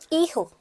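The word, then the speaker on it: hijo: एच को तो हमें पढ़ना ही नहीं है, तो ई, और मैंने बोल दिया इसको ह का साउंड दे रहा है, तो ईहा, ईहो, ईहा.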